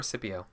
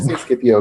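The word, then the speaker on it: Scipio: so cpio what or is it skipio or cpio yeah skipio because it sounds better in English Okay who knows what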